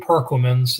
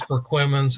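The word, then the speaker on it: Perquimans: part of the state, they would be mispronouncing both of these. They call one of them perquammens, another one permans. Yeah. Sounds like some type of worsture sauce, but it is Perquimman's and it is Berti.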